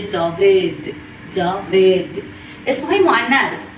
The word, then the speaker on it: جاوید: جاوید رو ما در فارسی میگیم، در اردو میشه جاوید.